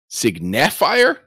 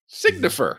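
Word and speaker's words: Signifer: Jennifer yeah no kidding Cigna fir somebody in the YouTube comments pointed that out a couple of episodes ago that we have been mispronouncing it for 10 years a signature mm-hmm no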